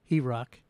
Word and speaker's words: HROC: Well, our main program is called Healing and Rebuilding Our Communities, HROC, which we pronounce as HEROC.